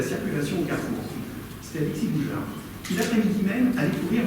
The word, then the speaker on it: Gougeard: Et ils ont un gros problème en Australie, les Australiens, les Anglo-Saxons, ils ont un gros problème pour prononcer Alexis Boujard. Alors c'était Alexis Bougard, Alexis Bouger, donc ils ne savaient pas trop.